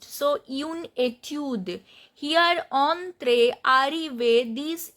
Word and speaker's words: entre: Then entre. Here the accent is on e. Entre. And en is nasal sound.